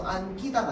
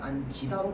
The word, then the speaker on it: 안기다: 그렇기 때문에 얘는 접사에 해당해서 안끼다가 아니라 안기다로 발음되는 겁니다.